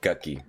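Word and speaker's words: Gucci: Gucky. That's how it's pronounced. Gucky. G-U-C-C-I. Gucky.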